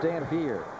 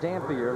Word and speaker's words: Dampier: It is pronounced Dampier. It is not Dampier like Louis Dampier.